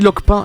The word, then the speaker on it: Lockpin: Ça se dit Lockpin.